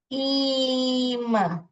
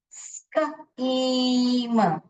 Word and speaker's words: scheme: और एक वर्ड लिखती हूँ यहाँ पर मैं, स्कीम, स्कीम। यहाँ पर ई अपना ई करके बोल रहा है, ये सब अभी हम अगला सीखेंगे। स्कीम, स्कीम। ओके, तो ये वर्ड्स लिख लीजिए जहां पे सी एच जो है च नहीं बोल के क क क क ऐसे बोल रहा है, क।